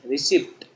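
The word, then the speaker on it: receipt: यहाँ पे क्या होता है, हमारा जो पी है ना, ये पी साइलेंट होता है। पी क्या होता है, साइलेंट होता है, ठीक है। तो ये वर्ड को हम क्या पढ़ते हैं, रिसीव पढ़ते हैं, रिसीप्ट, ठीक है।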